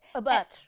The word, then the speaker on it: Abbott: A butt. It's pronounced a butt.